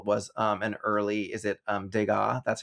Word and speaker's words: Degas: And so yeah, she recognizes one of the paintings of ballerinas on the wall was an early, is it Degas? That's how you pronounce it, right?